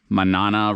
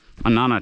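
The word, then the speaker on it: Mānana: We're doing the Manana spelled like Manana, but obviously it's not Manana. Manana Ridge uh up to the Ko'olau Summit.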